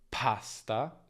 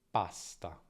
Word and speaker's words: pasta: In italiano non c'è nessuna aspirazione, quindi non diciamo pasta, ma pasta.